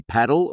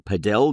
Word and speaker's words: padel: I've been playing a little bit more, got to pronounce this the right way, paddle or padell depending on whether you're in Europe or Australia how you pronounce it.